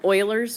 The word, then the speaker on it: Euler: us into a formula it's called Euler's formula but it looks like Euler's formula but the guys name is spelled like this but it's Euler is how you say that so um this guy